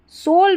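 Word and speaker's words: soul: सोल में भी ओ यू है। यहां पर सोल में ओ यू को ओ पढ़ा गया है।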